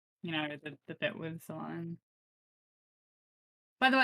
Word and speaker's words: Solanum: You know, the bit with Solanum. By the way, I googled it the other day and it's actually pronounced Solanum, but I think that's stupid, so I'm not gonna say it.